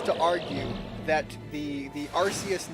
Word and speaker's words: Arceus: thought name change again Nintendo verified in some of their in some of their promotion content and some of their actual games that were made that it's pronounced Arceus I stand by this